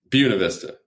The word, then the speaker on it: Buena Vista: It's not Buena Vista. How do they pronounce it there? Buena Vista. I love that. Good Mexican pronunciation there.